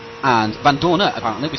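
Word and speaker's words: Vandoorne: Right, we're going to go on board now with Stoffel Van Dorn. And Van Dorner, apparently, we said his name a little bit wrong, I think, Pete.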